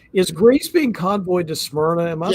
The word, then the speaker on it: Smyrna: Is Greece being convoyed to Smyrna?